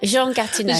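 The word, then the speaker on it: Jean Gatineau: the legacy, I guess, that how do I pronounce it, Jean? I'm not very good with French. Jean Jean Gatino.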